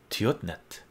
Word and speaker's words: Tiotnet: Tiotnet is pronounced Tiotnet. It's the first letter of my first name and then my last name, but it's all good, man.